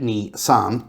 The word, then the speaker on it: Nissan: and Nissan it's correct way to say it Nissan 2323 Nissan we're going to merge with Honda